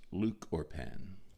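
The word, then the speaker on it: lúchorpán: And it's pronounced Luchorpan.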